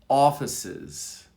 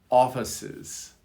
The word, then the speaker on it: offices: Number 7, officers, offices. Officers, offices. You can hear the on offices, the soft I.